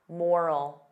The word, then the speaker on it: moral: The sound is less stressed. I don't open my mouth as wide. Moral, moral.